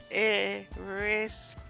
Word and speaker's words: Erised: It's Desire Backward. Backwards. Yes. But how do you say Desire Backwards? Erised.